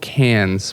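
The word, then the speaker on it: Cairns: one of the places it's called Cannes but it's spelt CAIR ns oh right yeah I'd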